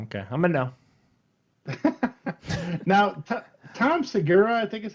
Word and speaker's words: Tom Segura: Now, Tom Segura, I think is how you say.